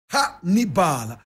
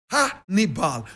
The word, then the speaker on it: Hannibal: Correct pronunciation, Hannibal. Hannibal.